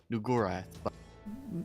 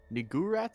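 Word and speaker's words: Niggurath: twitch safer work name new wrath is fine this is true although it is definitely pronounced like the n-word I'm afraid no no which is why I don't pronounce it that way look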